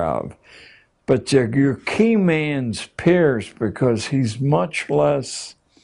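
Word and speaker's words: Peirce: has produced he was It's pronounced peers but it's spelled as if it were Pierce charles S peers a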